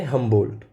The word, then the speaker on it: Humboldt: नाम है Alexander von हम्बोल्ट। अब इनकी स्पेलिंग पे थोड़ा सा ध्यान दीजिएगा आप, HUMBOLDT। ठीक है, स्पेलिंग थोड़ी सी अलग है तो आपको याद रखनी पड़ेगी। बोलचाल में इनको बोला जाता है हम्बोल्ट।